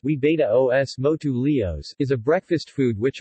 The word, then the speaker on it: huevos motuleños: huevos Motul Enya's pronounced we betta OS MOTU leo's is a breakfast food which originated in the